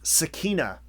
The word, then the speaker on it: Sakina: So if you think Sakina should be pronounced Sakina, then spell the name Sakeena.